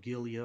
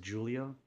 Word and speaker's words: Giulia: Julia like you know making the G more into like a J but definitely you know